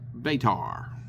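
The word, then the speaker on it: Batar: He basically now asked for people to give him coins for telling the blessed story of their savior uh betar spelled b a t a r.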